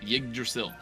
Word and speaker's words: Yggdrasil: How to pronounce it? Yggdrasil? Yggdrasil.